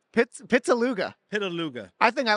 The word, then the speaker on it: Pittaluga: I am live here with Pittaluga. Am I saying that right? Way off. What? Way off. What is it? Pittaluga. Pittaluga.